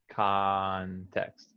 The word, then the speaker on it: context: would say context okay now the o sounds like ah context context context right context okay so